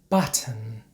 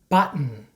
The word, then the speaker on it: button: at some examples this is not how we pronounce these words in standard American English certain Buton Britain WR Martin Manhattan in American English we pronounce these words like this certain button Britain written Martin Manhattan so for example I'm